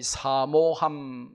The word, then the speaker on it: 사모함: 가끔 성도들 중에 이 사모함, 이 장모음, 사모 이렇게 사모라고 발음해야 되는데 사모라고 발음하는 분이 있어요. 사모합시다. 사모는 남의 아내를 높여서 부르는 말이 사모고요. 사모라고 장모음으로 발음해야 돼요.